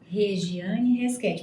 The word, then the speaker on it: Regiane Resquetti: É assim que se pronuncia? Regiane Resquete.